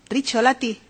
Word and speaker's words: Rizzolatti: solar que se pronuncia ya como rezo latín rizzolatti cuando me digáis ya otro